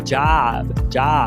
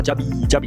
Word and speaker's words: job: Então, táxi é cab. O brasileiro quer falar cab. Trabalho é job. O brasileiro quer falar job. Então, não coloque esse I.